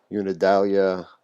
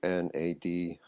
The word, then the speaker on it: Unadilla: got a got the, I don't even know how to pronounce it, Unidalia Antenna Manufacturing Company. It's Unadilla.